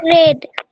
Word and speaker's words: read: So I hope you Red. a book is read by him. The pronunciation will be read.